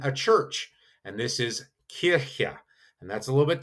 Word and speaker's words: Kirche: And this is Kirche. And that's a little bit tough to pronounce, but you will hear it Kirche.